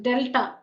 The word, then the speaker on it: delta: So let delta, this is not triangle, this is again a Greek letter that's pronounced delta, delta, D-E-L-T-A.